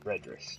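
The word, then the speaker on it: Ridris: It's a fairly old name for me, but some people probably won't understand it, might not understand how to say it, but it's Redris, R-I-D-R-I-S, Redris 2015, last year, at this point.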